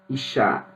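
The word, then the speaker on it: אִשָּׁה: temos uma conexão fonética a palavra mulher se pronuncia Iá a palavra homem se pronuncia is a palavra fogo se pronuncia Ash tudo é muito parecido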